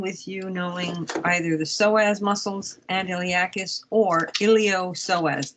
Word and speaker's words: psoas: you knowing either the psoas muscles and iliacus or iliopsoas the p is silent if you take a